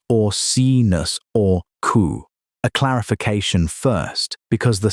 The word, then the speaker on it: Orcinus orca: Orcinus orca, pronounced or-see-nus or-coo.